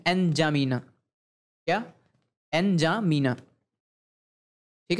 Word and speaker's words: एनजामीना: अब इसकी राजधानी है एनजामीना। क्या? एनजामीना। ठीक है, या आप सीधे सीधे इसको जामीना ही बोल सकते हैं, क्योंकि आप अगर गूगल करेंगे प्रोनाउंसिएशन में तो आपको ऐसा ही प्रोनाउंसिएशन मिलेगा, एनजामीना।